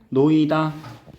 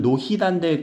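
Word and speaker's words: 놓이다: 히읗 탈락 같은 경우는요 원래 히읗이 있는데 노이다 근데 소리는 어떻게 나니 노이다로 발음이 나죠 자요 히읗은 연음이 돼요 안 돼요 안 돼요 연음시키면 노히단데 그렇게 발음을 하는 애들 있더라 그렇게 바로 하드가 대부분 근데 노 이다야 이거 그렇게 하면 안 돼 탈락시켜 줘야 돼 쌓이다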